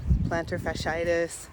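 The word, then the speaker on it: plantar fasciitis: times and I immediately experienced pain shin splints planter fitis that's how you say it and btis just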